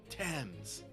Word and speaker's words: Thames: thames by the way you don't pronounce the h hens why why is it there then i don't know why the thames has an ancient hems tams but yes it's the